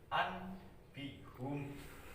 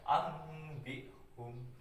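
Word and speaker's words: أنبئهم: Contohnya ini an bihum, karena nun mati bertemu dengan b, dibacanya itu mim ya, nunnya dibaca mim. Contoh jadinya ambihum, ambihum, ambihum. Jadi nun matinya dibaca seperti mim mati ya, itu iklab.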